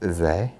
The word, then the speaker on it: Izé: And then we took out the Izé hardware, because of course it's pronounced Izé.